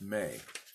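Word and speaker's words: Mei: 40 and it was M e I may pronounced may 3 letters there's also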